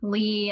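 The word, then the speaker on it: Leigh: it's my first name Lee l-e-i-g-h it's spelled funny underscore nutrition that's my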